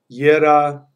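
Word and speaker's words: Jera: Okay, so Yera comes from the word for year, and we pronounce it this way again. Yera, the J-G sound is very fluid in Germanic languages.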